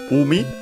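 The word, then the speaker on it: 海: and then we have umi. C should be accent on the first syllable, but we'll check.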